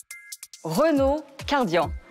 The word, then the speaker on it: Renault Kardian: l'adrénaline Renaud cardian nous avons décidé de le prononcer à la française pourquoi Renaud est une marque française un peu comme donc la french touch ce nom donc a des consonnes fortes de car le r le D tout ça donc renvoie